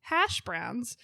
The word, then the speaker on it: hash browns: When she pronounces hash browns, instead of putting the emphasis on hash, she puts it on browns.